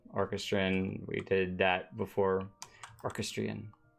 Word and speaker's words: orchestrion: Orchestrion. Orchestration. No. Orchestra. No, but orchestrion just is way better. I like my pronunciation better, okay? I like the first one you said orchestrion, like it was some sort of horse race or something. Orchestrion. Yes, very good.